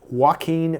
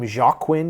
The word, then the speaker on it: Joaquin: the movie Her with Joaquin Phoenix I used to pronounce his name jaquin because I was reading it phonetically Joaquin Phoenix and he